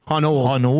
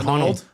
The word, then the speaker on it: Honnold: I learned that Trev thinks that Alex Honnold, which I was told is how you say it, Honnold, not Honnold, Honnold.